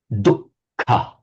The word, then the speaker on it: dukkha: So in Pali, this one, which I'm underlining here, it's simply a double K, dukkha, dukkha, yeah. Double K and aspirated. In Sanskrit, that H is separately pronounced as dukkha, dukkha, with an H sound.